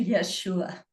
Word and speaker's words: Yeshua: And I was speaking to Yeshua and that is how he told me to pronounce his name.